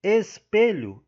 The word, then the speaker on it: espelho: Na letra C, espelho, a sílaba tônica é o P.